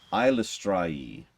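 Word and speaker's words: Eilistraee: deity uh uh I I looked up how to pronounce this at one point uh ilustry is actually apparently how that's pronounced I sure anyways um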